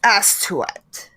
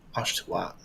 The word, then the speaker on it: Astuat: Astuat. Nice. And the bird Has to have. turns back into a statue. I would have pronounced that Ashtwat. And then I would have felt silly because I said Ashtwat.